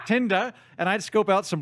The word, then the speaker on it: Tinder: friends and I went on this app called tender and I decided I'd scope out I believe there it's pronounced Tinder and I'd scope out some local talent and